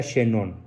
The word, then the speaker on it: Chenon: Así tal como se pronuncia, se escribe Emilio Chenon. Se pronuncia Chenon.